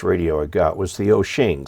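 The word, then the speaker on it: Wouxun: very first chinese radio i got was the oh shing spelled wuxong but pronounced doshing which is a nice little radio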